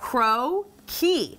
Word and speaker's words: crocchi: I want to make, look at this little pronunciation key. Oh, look. Crocchi.